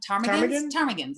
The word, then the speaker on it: ptarmigan: Ptarmigans, I think. Spelled with a P, I believe. PT or TP or something.